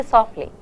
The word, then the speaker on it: softly: In natural, when you speak English naturally, you don't pronounce the t. You don't say softly. You don't say like that. You say softly. The t is really not there.